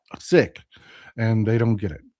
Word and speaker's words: Sikhs: I know it's sick, but for Americans, that sounds like you're saying sick. Sick. And they don't get it. And we've all grown up calling them siks, even though it is absolutely incorrect.